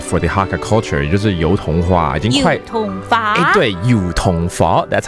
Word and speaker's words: 油桐花: 就是油桐花，已经快油桐花。